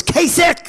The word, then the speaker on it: Kasich: Even though it's pronounced I-C-H, it's Kasich with a K, like with a K, okay? Think about K.